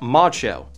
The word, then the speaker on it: ModXO: This is the ModXO, pronounced Macho.